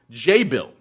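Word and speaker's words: Jabil: __ ] taking me the task for my pronunciation I said before job well he said it's at job oh is a tech name and it's actually pronounced je bill and they pronounce they supply some technology for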